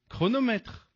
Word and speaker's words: chronomètre: Mais attention, le CH, il peut aussi être K chronomètre.